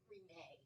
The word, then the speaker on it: Renee: Are all of the letters in your name pronouncable? Renee. I say them all.